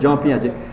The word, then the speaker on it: Jean Piaget: জ পিঁয়াজে তেরে না, পিঁয়াজের কিন্তু উচ্চারণ হবে জ পিঁয়াজে।